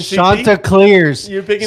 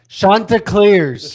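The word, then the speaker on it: Chanticleers: You picking Shanta Clsing. Say it right. Shantaa Clears.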